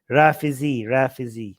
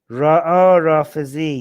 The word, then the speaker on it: Rafizi: Rafizi. That's how you say it. Rafizi.